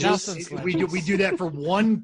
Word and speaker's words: Nelson Ledges: But we pronounce Nelson Ledges as Nelson's Ledges. Nelson's Ledges.